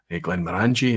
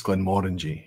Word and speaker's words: Glenmorangie: have to learn that it's not Glenmorangie, it's Glenmorangie.